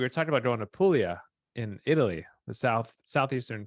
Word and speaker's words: Puglia: it different now no the correct way of saying is apuia right I think yeah yeah I just said Puglia because that's how it's spelled yeah but uh we were